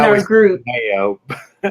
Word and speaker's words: DeMeo: It makes me think of Rob DeMeo, or is it DeMeo? Man, he taught me how to pronounce it I in our always group. Mayo.